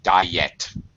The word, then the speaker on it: diet: all one thing uh pronunciation diet diet there's a y sound there diet two syllables okay all right quit